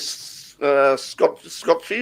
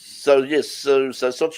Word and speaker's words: Sochi: for coming up with Scotchy or Sochi on the weekend? How's it pronounced? Scotchy or Scotchy? I think it's Sochi, isn't it?